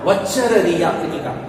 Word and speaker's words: Wuchereria: See the spelling for Wuchereria, W-U-C-H-E-R-E-R-I-A. That is called Wuchereria, but we have to pronounce it as Wuchereria bancrofti.